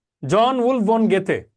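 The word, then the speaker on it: Goethe: জন Wolf von গেথে। এই উচ্চারণটা খেয়াল করেন, গেথে গেথে গেথে গেথে, গোয়েথে না কিন্তু, গেটে গেটে গেটে।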